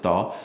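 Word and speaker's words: Thao: We we might say tha t h a o. They pronounce it thaw.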